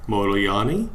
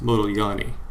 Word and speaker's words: Modigliani: among other things and he told me it was pronounced motoyani and i said moloyani and he said no you're saying it all wrong it's model yani so apparently there's this thing that americans can't say or hear that has to do with this name so we'll just call